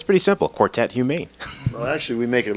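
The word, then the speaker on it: Humaine: back and forth in the studio how to pronounce that it's pretty simple quartet humane well actually we make it a little more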